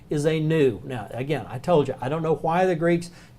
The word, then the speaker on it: nu: So it's looks exactly like our letter V, but it is the Greek N or nu. Nu. N-U. Nu is how it's pronounced.